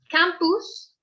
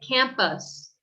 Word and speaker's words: campus: An example would be, instead of saying campus, campus, which would be more like a Spanish pronunciation, we say campus, campus, us, campus. All right, so that schwa sound is really important.